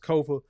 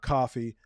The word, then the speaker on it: Kofa: I have been your humble host, Kofa, K-O-F-A, not coffee, not, not Kofi, or any variation thereof. Kofa rhymes with sofa.